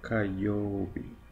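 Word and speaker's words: 火曜日: Y se pronuncia kayobi.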